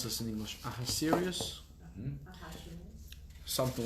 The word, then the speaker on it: Ahasuerus: King, how do you pronounce this in English? Ahasuerus?